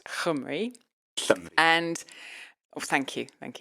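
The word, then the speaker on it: llymru: spell l l ym r u but it's pronounced hum and oh thank you thank you I'm going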